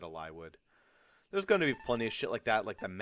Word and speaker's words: Eliwood: him a lie would some people say eliwood it's probably eliwood I said a lie would there's gonna be plenty